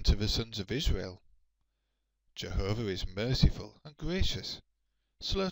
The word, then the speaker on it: Jehovah: In English it is usually pronounced Jehovah, but some people pronounce it Yahweh.